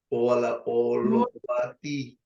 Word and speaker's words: Holovatiy: Tengo, a ver si puedo pronunciar bien el nombre, el apellido más bien, Olovati. No sé, ¿le pronuncié bien? Olovati. Usted dígame, bienvenida al programa Nuestra Entrevista. Un placer tenerla. Gracias. Gracias, señor Armando García. Sí, lo pronunció muy bien, muy bien.